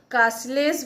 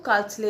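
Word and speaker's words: Carlisle: कई बार इसको कार्सले बोलते हैं, कई लोग इसको कास्लेस बोलते हैं, बट करेक्ट प्रोनाउंसिएशन जहाँ तक मैंने देखा है तो इसको कार्सले ही बोल रहे हैं।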